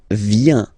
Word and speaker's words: viens: So, the first form is je viens. Je viens, okay? Remember this I, viens, viens, and then this nasal. Final S not pronounced.